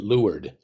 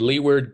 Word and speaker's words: Leeward: Is it Leeward or you pronounce it Leeward?